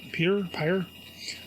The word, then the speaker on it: Peyer: The writer of this was Tom Peyer. That's how you pronounce it. Peyer.